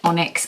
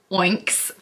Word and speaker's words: Onyx: to be talking about onyx storm every time I read it I want to say oinks like oinks but that sounds like a pig and I know it's supposed to be Onyx besides you're saying it